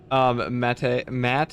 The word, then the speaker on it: Matt: Matt is pronounced like man's name Matt.